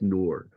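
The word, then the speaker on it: Ngor: For instance, actor Hanks Noor, I think is how that's pronounced. The G is silent. It's just Noor.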